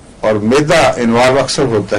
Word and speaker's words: aurum: औरम है एक, उसका तलफ़्फ़ुज़ है औरम, ये गोल्ड है और AURUM लिखा जाता है, और एक है आरम, मैं आरम कह रहा हूं इस वक्त, जो ARUM है, ये वो सोना नहीं है।